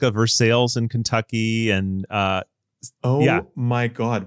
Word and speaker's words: Versailles: No, we have like a Versailles in Kentucky and my God. What did you just say? Versailles. You mean Versailles? No, I mean Versailles.